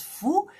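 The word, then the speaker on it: 福: Ce caractère, ça s'écrit FU, F-U, ça se prononce fou.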